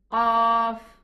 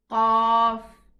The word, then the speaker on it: Qaf: The name of this letter is Qaf. Get it from deep inside the tongue. You know, the deepest part of the tongue. This is where the Qaf is pronounced from. So it's Qaf.